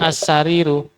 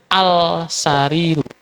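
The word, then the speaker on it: السرير: bacanya annajmu seperti itu demikian juga assariru assariru kalau ini enggak dikasih nanti bacanya alsariru makanya di dikasih tasdid assariru ni ini ya sama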